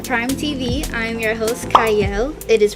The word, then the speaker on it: Qiayel: y'all welcome to Prime TV I'm your host cyle it is pronounced with or it's sped with a q but it is pronounced cyle and today I have a special guest with